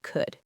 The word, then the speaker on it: could: It's also silent in words like calm, palm, and the modal verbs should, would, and could.